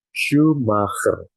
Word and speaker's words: Schumacher: Nah, maka di sini cara bacanya gimana? Yaitu menjadi Michael Schumacher.